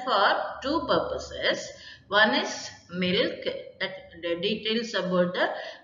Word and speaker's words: milch: The C is silent, milk animal.